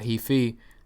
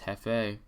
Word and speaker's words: Hefei: Not Hefei, it's Hefei. Yangquan, Yangquan, and Chongqing. That's right. That's how you pronounce it.